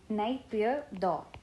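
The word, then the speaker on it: Naypyidaw: काफ़ी डिफिकल्ट है इसका प्रोनाउंसिएशन, तो नैपीदो, नैपीदो इसका कैपिटल है।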